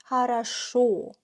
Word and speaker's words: хорошо: Because if O is stressed, we pronounce it as O. Хорошо, right? If it's not stressed, then we pronounce it as A. That's why I say хорошо, even though I spell 3 O.